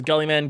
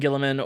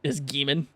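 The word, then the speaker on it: Guilliman: Last name's either pronounced as Gullyman, Gilliman, or if you're a fucking barbarian, you can pronounce it as Geeman.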